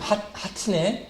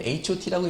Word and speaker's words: H.O.T: 그 H.O.T가 이제 처음 나왔을 때 제가 딱 그걸 보고 이 그룹 이름 하트네. 그랬더니 아이들이 뭐 전도사님 그거는 H.O.T라고 읽는 거예요.